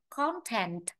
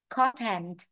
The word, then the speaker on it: content: Cái từ này rất nhiều người đọc sai này, kể cả giáo viên. Từ này rất nhiều bạn đọc là rất nhiều người đọc là content, không phải content, đấy là danh từ mà. Trọng âm nó rơi vào âm tiết 1 đó.